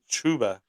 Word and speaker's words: Chuba: Pronounced Chuba.